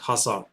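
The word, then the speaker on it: Khazar: hassar people so decay in Kazar is not pronounced so it's silent it's called hassar and for this I even got me another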